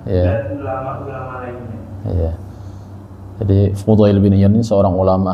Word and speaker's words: Fudail: Juga pada Al-Fadail bin Al-Fudail. Fudail itu bacanya. Bin Iyadi. Ya. Sufyan bin Uyainah dan ulama-ulama lainnya. Ya. Jadi Fudail bin Iyad ini seorang ulama ahli sufi ya.